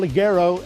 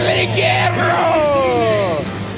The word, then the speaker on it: Ligero: And talk about an international flavour, here comes the UK luchador, El Ligero! You need to roll your R's more. Is that what you're supposed to do? Let's do it again. Ligero.